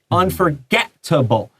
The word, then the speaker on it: unforgettable: Well, usually in English 有意外第一个 T 前面的母音一定要短的 so unforgettable. And 那个第二个 T 会下一个音节要加强这个 T. So you say unforgettable. 不是 unforgettable. That's wrong. So 那个两个 T you draw a line.